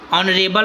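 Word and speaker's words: honorable: ठीक है, ऑनरेबल सर, कहते हैं ऑनरेबल सर, ठीक है, यहाँ यह साइलेंट हो गया।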